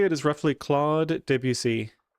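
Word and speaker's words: Claude Debussy: So how I would say it is roughly claude debut.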